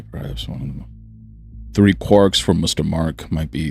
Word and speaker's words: quark: The quark meaning for one thing. The cry of the gull was clearly intended to rhyme with mark as well as bark.